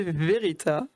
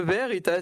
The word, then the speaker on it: VRita: un peu nous expliquer tu peux tu peux le prononcer verérita verérita si c'est après verita ça dérange pas mais c'est plus facile quand tu prononces vite de dire verérita parce qu'en fait ça